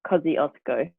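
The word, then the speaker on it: Kosciuszko: correct it's really close we would say like cozzy osco because let's go okay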